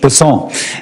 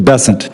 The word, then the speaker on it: Bessent: Cassidy um Mr bassant I'm always going to pronounce your name as if it was in south Louisiana and I'm going to pronounce it with a French bassant as opposed to bessent that's what those folks in South Carolina do um I'll try let